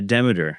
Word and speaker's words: Demeter: This next one, Demeter, I'm imagining that's how you say it? Yeah, Demeter.